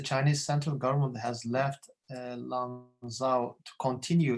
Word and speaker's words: Lanzhou: Did you use a private name, Longzhou or Lanzhou? Lanzhou.